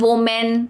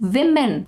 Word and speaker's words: women: Women, women, not women, women. I know it doesn't justify the spelling, but that's how it is.